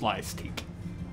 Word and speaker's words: Slyastique: Slyastique would be S-L-Y-A-S, and then teach. But it's pronounced Slyastique.